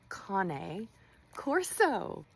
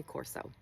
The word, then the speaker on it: Cane Corso: A lot of you not know that it is actually pronounced Cane Corso. You were very loud about that, but that's okay because we're all learning. It's making your brain itch so much. Just say Corso.